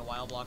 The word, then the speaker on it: Wileblock: is to be while well actually no it's actually originally pronounced but you can call me wild block whatever it doesn't matter to me yeah it was